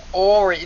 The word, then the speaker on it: Henri: Ori. There's no N? I thought you kept saying Henri. There is an N, but in French they don't pronounce it very much.